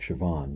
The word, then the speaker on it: Siobhan: almost pure performance, And I forget how to pronounce her first name, but Saoirse. Saoirse. Yeah, that's like Siobhan.